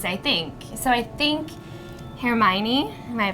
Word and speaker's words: Hermione: So I think Hermione, am I pronouncing that correctly? - Hermione.